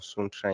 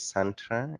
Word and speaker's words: Suntra: I'm the CEO of Suntra Investment Limited. The other way of pronouncing that name is Santra Investments Limited. It's one and the same.